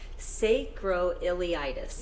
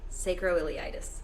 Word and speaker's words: sacroiliitis: pronounce it right Hillary taught me how to pronounce it sacroiliitis yeah sacroiliitis so you had that you had spine pain